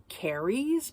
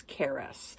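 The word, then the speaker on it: Carys: in my head because her name is c-a-r-y-s and I'm thinking it's carries but it's Keras so I definitely would have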